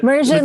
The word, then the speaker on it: Mersion: So Mersion, like immersion.